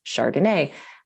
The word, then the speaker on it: chRDNA: So we wrote that out as a little acronym, chRDNA, which we pronounce chRDNA.